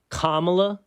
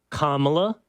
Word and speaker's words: Kamala: the rules right everybody listening if you're listening kamla enlightened Kamala racist so get it right Kamala safe by the way Tyrus on this note